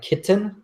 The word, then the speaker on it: kitten: noticed you said uh we pronounced that word a little bit different so you said like kitten and I say kitten sure that like uh that glottal tea kitten kitten um but